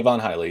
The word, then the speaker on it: Javon Hiley: How do you pronounce his name? Did I get it right? Yep. Yeah. Javon Hiley, yep.